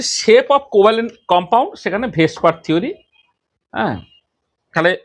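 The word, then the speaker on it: VSEPR: Valence shell electron pair repulsion theory, যাকে বলা যায় ভেসপার theory, pronounced as ভেসপার VSPR theory।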